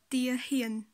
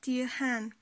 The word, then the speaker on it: ទាហាន: Le mot se dit tia hien, tia hien. Et ne se dit pas tia han. Ha va prendre la série de tao, donc qui est une consonne forte et qui est une consonne en o. Donc ha va se prononcer ho. Ho avec le son a, ça fait hie, donc tia hien.